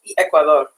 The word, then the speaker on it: Ecuador: Colombia Dr Ecuador what how do you say that correctly in Spanish Ecuador okay so I I knew I was saying it wrong um El Salvador um